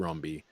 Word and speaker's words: Rombi: Philippe romby okay well I was gonna say rombi so you got Rumbi yeah it could be more French than that but yeah it's Philippe Rumbi have y'all seen the